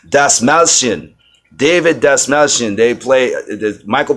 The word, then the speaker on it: Dastmalchian: Yes, I pronounce his last name, Dastmalchian.